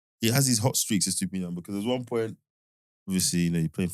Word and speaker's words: Estupiñán: And then Estupiñán. I've been saying his name wrong, Estupiñán. There's another N. Yeah, Estupiñán.